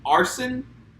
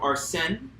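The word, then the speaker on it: Arsène: because they call him Arsene instead of Arsene, because that's the proper French pronunciation, Yeah.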